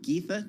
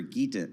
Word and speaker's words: Geth: here in the studio do you prefer the pronunciation of your first name getha TH or gaita with a T it's it's uh th so ga boom told you